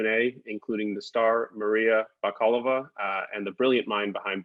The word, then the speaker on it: Maria Bakalova: the honors yes please uh maria bakala kalava maria bakalova thank you so much for bringing had it